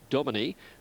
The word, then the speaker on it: Domini: Domini, which I'm told is the correct pronunciation, has been a big drifter and there's been good support.